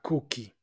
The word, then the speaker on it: cookie: I want a cookie. Recordemos, cuando hay dos o juntas, normalmente se pronuncian como u. Cookie.